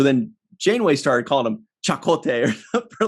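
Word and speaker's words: Chakotay: be one of those things where janeway called chicote she used to call him chicote and then like in the third season or something there was like a native american guy that visited and and called him chakote or something so then chainway started calling him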